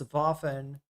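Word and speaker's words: Waffen: Randall's pointing out that uh W's in German are pronounced like V's in uh English. Yep. So it's vafen and and ver very vermarked work in therapy.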